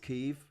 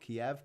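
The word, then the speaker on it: Kyiv: the way it's pronounced keeve apparently not kiev kiev is the russian way of saying it if you're a ukrainian speaker you say keeve and yeah he and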